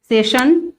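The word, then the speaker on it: session: एन है, तो यहाँ पर हम एस का प्रोनाउंसिएशन क्या करेंगे, शा करेंगे, सेशन, फिर रशिया, आई ए है यहाँ पर तो इसका प्रोनाउंसिएशन रशिया होगा।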